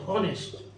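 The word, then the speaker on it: honest: এই যে এখানে এইচটা অনুচ্চারিত অনেস্ট, যার জন্য আমরা এখানে অ্যান লিখছি।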